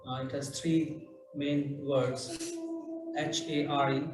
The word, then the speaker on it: Hare: H-A-R-E, pronounced as Hare, Krishna, and Rama.